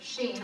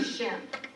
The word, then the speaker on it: Shin: That's the letter out of all the alphabet, out of 22 letters that God chose to scan for himself, the letter Sheen, or they'll say Shin.